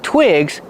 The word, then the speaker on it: twigs: You need a lot of twigs to start a fire. They work great for that. Twigs. These are twigs. Pronunciation. Use the short I sound like this is. Twig.